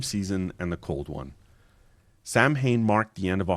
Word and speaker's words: Samhain: Long before Halloween, there was Samhain, or what is actually pronounced Samhain.